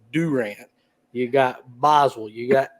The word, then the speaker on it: Durant: in you got Durant it's not Durant like Kevin Durant it's Durant you got Boswell you